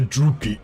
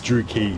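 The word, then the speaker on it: Druchii: The drooie. The Drewie are mad bloodthirsty killers. It's Dukie. Malakus literally says it.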